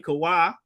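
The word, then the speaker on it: Chavah: While Eve, or that's the Hebrew way to say her name, Kawah, his second wife, patriarchal wife, was created from Adam's side.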